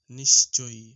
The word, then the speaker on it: নিশ্চয়ই: উচ্চারণ হবে নিশ্চয়ই, নিশ্চয়ই।